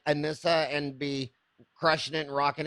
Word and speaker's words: Anissa: is your name pronounced anissa it is like Vanessa with an a unless it's love and kind of like a Melissa anissa Melissa like anissa